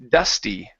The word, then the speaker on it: dusty: This is dusty. Dusty. A dusty driveway. A dust driveway. Okay, so Portuguese speakers have a tough time pronouncing E sounds at the end of a word unless it's an E